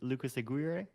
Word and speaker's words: Lucas Aguirre: your name again i keep i'm it's like lucas aguirre yeah yeah yeah i i notice uh some